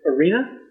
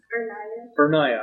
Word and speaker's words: Ernaya: Uh, is it Arena? Ernaya, I'm sorry I butchered your name.